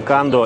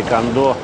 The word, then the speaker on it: Kando: спиннинговых удилищ под названием кондо или канда в японском языке нет ударения как такового поэтому можно говорить итак итак это разработка